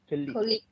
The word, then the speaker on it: colleague: colleague, So listen to the first syllable, colleague. colleague, Colleague. So it is not colleague, it is colleague.